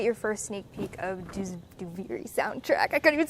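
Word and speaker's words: Duviri: out loud is a that's how you pronounce it by the way duvery and then do not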